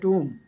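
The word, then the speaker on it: tomb: He horrid टू द टूम, इसमें B silent होती है, टूम होता है जहाँ पर डेड बॉडी दफनाई गई हो, उस बिल्डिंग को टूम बोलते हैं।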